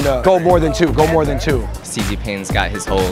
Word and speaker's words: Xi Jinping: That's one of the syllables. X-I, I don't know how to say this. Zing. Jing. Dai? Xi Jinping.